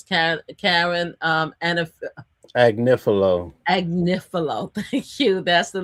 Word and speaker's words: Agnifilo: Anifilo. How do you pronounce his last name? Agnifilo. Agnifilo. That's the main lawyer for Diddy that everybody said that got Diddy off, which he did not.